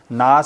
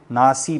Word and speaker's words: ناس: جو زیر ہے نا، زیر کو ہم یعنی مجہول نہیں پڑھیں گے بلکہ لٹا کے پڑھیں گے، ناس سے پڑھیں گے نا تو وہ عربی لہجے سے الگ ہو جائے گا، ناسی پڑھیں گے، ٹھیک ہے۔